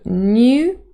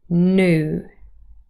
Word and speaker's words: new: So new is RP. And for General American English with Yod dropping, new.